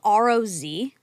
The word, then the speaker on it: Roz: It's spelled R-O-Z. R-O-Z, no E. No, because So Roz. but it Rose. Okay, but Roz.